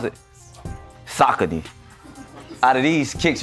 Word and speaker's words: Saucony: I like to call them Saucony. How we pronounce it? Saucony.